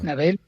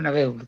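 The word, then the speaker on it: Nabeul: Nabel, Nabel o Nabul, que yo creo que se pronuncia Nabel.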